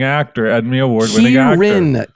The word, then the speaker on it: Kieran: Kierin. Kierin. You never say it right.